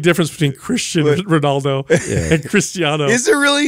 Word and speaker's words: Cristiano: Yeah, it's Cristiano.